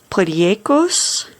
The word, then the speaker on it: potjiekos: This is a South African dish. It is from, the name is Afrikaans, and it is pronounced potjekos.